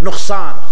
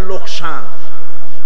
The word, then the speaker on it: নোকসান: আর খাসারাও আরবি শব্দ আমাদের অনেক লোকেরা বলে লোকসান ব্যবসায় লোকসান হয়ে গেছে কথাটা ভুল এটি আরবি শব্দ এটার এটার উচ্চারণ হচ্ছে নোকসান।